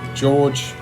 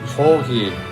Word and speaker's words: Jorge: Well, today I would like to give a video reply to George 416 Piper. Jorge, I think, is a better pronunciation of that, 416 Piper.